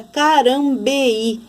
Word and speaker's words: Carambeí: carambeí e quer dizer a vogal e fica numa cilada a vogal i fica em outra sílaba aí eu preciso acentuar